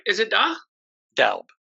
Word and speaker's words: Doub: Doub. Doub.